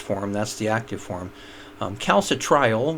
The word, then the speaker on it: calcitriol: So along the way, you have cholecalciferol and then calcidiol 2, calcitriol 3. That's the last form. That's the active form. Calcitriol would be one way to pronounce it. I think most people say calcitriol.